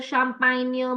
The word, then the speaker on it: champagne: Whenever you see your words ending in GNE, campagne, champagne, montagne, make sure that your GNEs are pronounced as near.